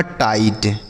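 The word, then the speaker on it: tight: ए टी आई जी एस टी तो टी आई से पढ़ेंगे टाई। और जी एस टी को क्या पढ़ना है? ट। यह लिखा गया आपका टाइट।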